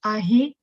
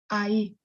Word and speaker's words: ahí: Remember that H is silent, so not ahí, ahí.